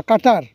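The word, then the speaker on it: قطر: এই প্রত্যাশা কাতার কাতার আরবি উচ্চারণ হিসেবে বলা হয় কাট বা কাটার।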